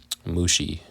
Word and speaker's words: Mushi: The clans descended from Merari were named after 2 of his descendants, Mali and Mushi. Rhymes with sushi.